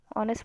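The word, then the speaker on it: honest: ऑनेस्ट ऑनेस्ट को भी हम ऑनेस्ट पढ़ते हैं तो उसमें एच साइलेंट होता है।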